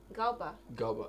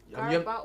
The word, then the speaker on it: Garba: Galba, yeah. Garba or Galba? You have never heard about that name? Is it Garba or Galba? Stop using English to pronounce native names.